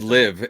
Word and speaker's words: LIV: Liv or um it's live it rhymes with give okay and live the